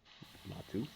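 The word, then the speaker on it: μάρτυς: Okay, concordance number, and it's pronounced, well, Martus.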